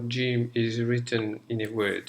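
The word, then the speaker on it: جيم: G in English so G for John or Jack okay so let's have a look at how Jim is written in a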